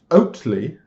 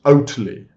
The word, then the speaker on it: Oatly: Is it Oatly or is it Oatly? Should we be saying like Oatly? Oatly. Should we be pronouncing the T so it sounds like totally?